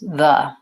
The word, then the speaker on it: the: word though but basically you want to have a voice th and vowel schwa the sound so it really sounds like this in most cases the I do occasionally say the if the next word starts with a vowel like the Apple or the airport but the majority of the time I want that vowel schwa I want it to sound like that I'm good I have